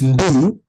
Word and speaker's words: ndimu: This is pronounced as ndi, as one word, ndi, and the second one is mu. Ndimu. Yes, ndimu. Ndi as first word, and mu as second one.